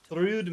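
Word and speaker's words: Thrúd: can't Apparently really- It's pronounced through. That's the heart. I did not Through. know that. I'm gonna Like say to Thread. them. I lied. Thrude makes more sense because, you know, Yeah.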